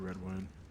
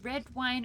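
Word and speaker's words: Redwyne: know which is it is it red wine or red win why do you prefer uh however you feel like saying it i will answer to either that's helpful say red wine because that's how it's been said by like every person that i've heard so i've heard some people pronounce it redwood okay but i prefer red wine because um oh actually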